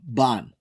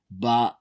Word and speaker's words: Baan: It's called Ban. Ban. I mean, it has the little thing on top of the A, but Yeah, you might want to spell that.